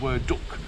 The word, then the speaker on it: Werdug: and we hiked to word Duke I believe that's how you pronounce it it's actually spelled w-e-r-d-u-g but in the guide it says pronounced as word duck if I'm getting that